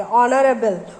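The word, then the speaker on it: honourable: ऑनरेबल, ओ सुनाई दे रहा है तो इसलिए एन लगाएंगे।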